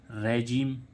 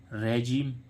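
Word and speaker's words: regime: अब देखते हैं इसमें जैसे RAGIME, रेजिम, RAGIME, रेजिम। ठीक है। ऐसे ही इसमें आप देखें SUBMARINE, आई का उच्चारण क्या हो रहा है?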